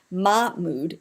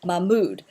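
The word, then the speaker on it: Mahmoud: put the emphasis so it's not ma mood it's m mood and you can see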